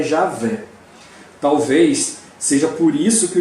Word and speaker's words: Javé: Por não se saber ao certo como se realizava a pronúncia, entendeu-se que o som mais próximo dessa expressão seria Javé.